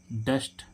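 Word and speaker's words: dust: मीस क्या होता है सूरज ऐसे इसमें देखें डस्ट डी यू एस टी तो डी क्या है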